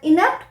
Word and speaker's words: inapt: है ही वास एन इनेप्ट politician move करते हैं अब आई एन ए पटी इसे भी हम इनप ही प्रोनाउंस करते हैं और इसका यूज भी